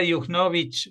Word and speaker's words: Juchnowicz: Y Sara Yugnovic, no sé si he pronunciado bien tu apellido.